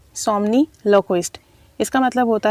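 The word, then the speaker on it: somniloquist: और थोड़े से डिफ़िकल्ट वर्ड्स हैं तो उनकी प्रोनाउंसिएशन भी सीख लीजिएगा। पहला वर्ड है सोमनीलोक्विस्ट। सोमनीलोक्विस्ट इसका मतलब होता है कोई भी वो शख्स जो नींद में बोलता हो, ठीक है।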